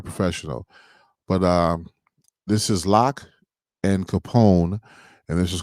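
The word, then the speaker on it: Lak: day and i think his proper pronunciation that he uses for his name is lock but it's spelt l-a-k but he didn't correct me because he was very professional but uh this is lock and capone and this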